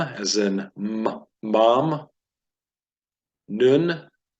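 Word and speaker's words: נון: mem as in mom noon but not none but noon noon Joshua Ben noon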